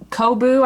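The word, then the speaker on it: Coboo: is actually a lion brand yarn it's a kobu i believe is how you say it c-o-b-o-o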